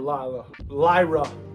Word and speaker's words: Lyra: Lyra, yeah.